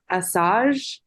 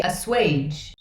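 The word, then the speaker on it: assuage: I wasn't sure what Assange how do you pronounce that yeah that's a tricky one it's it's actually a swage okay yes that one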